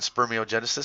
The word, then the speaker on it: spermatogenesis: the FSH leads to spermatogenesis and sperm e oh genesis sees first i don't know why they say it like that sperm e oh genesis is really part of spermatogenesis so i don't care